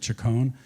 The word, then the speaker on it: Chacon: I asked him how his mother pronounces it. He said Chacon. So it's Mr. Peter Chacon as far as I'm concerned.